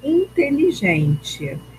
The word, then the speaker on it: inteligente: Eu chamo essa palavra em voz alta. Inteligente, tá? Então a sílaba tônica, o gen.